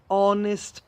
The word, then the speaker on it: honest: An honest person. We don't pronounce the H on honest, honesty, etc.